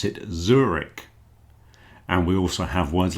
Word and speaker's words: Zurich: There's another city called Zurich. We pronounce it Zurich.